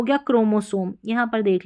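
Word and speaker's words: chromosome: Last में इ का उच्चारण नहीं होगा तो एम को म यह हो गया क्रोमोसोम।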